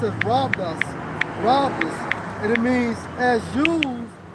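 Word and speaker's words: ῥάβδος: Hey, rod in the Greek is Strong's G 4464, pronounced as robus, and it means as used on a journey or to lean upon or by shepherds.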